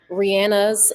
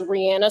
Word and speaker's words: Rihanna: And yes, we're going to say Rihanna because that's how you pronounce her name. I've been arguing with my friends about this. They're like, "We didn't know her name was pronounced Rihanna." Says, "When was it Rihanna?" I'm like, "It was always Rihanna." Okay.